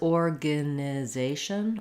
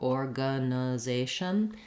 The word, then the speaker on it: organization: to have Orana Z but if I said this as organization or organization there's really no difference organization all of these reduced vowels organization are just there's very little vowel quality to it so you can't